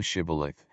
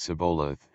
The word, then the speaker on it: Shibboleth: Then said they unto him, Say now Shibboleth, and he said Sibboleth, for he could not frame to pronounce it right.